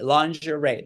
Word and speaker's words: lingerie: We're in lingerie, lingerie. That's how you pronounce it.